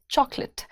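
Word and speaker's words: chocolate: नहीं जी सिंपल रखेंगे प्रोनाउंसिएशन है चॉकलेट चॉक भी जेंटल है लेट भी जेंटल है सो इट्स चॉकलेट she boat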